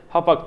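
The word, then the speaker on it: Hauppauge: şu anda görselde görüyorsunuz bunun yazılışı çok acayip alt tarafa Yazarım ben yine hapak diye okunuyormuş Ben de bunu yeni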